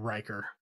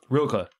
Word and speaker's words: Rilke: And then it ends with a poem by Rico, not Riker. Ralkel? I didn't write it down. Rilke? I don't know how to say it. Rilke. That's it.